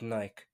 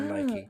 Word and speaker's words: Nike: I listened to it whilst running, so they partnered up with Nike or Ah, Nike, depending on how you pronounce it, to produce like some